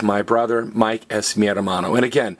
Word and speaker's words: hermano: So hermano's brother. But notice, it's not hermano, it's hermano. Because everybody, what's the only silent letter in Spanish? H.